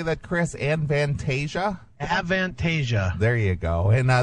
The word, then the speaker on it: Avantasia: how do you say that Chris an vantasia avantasia there you go and uh that features the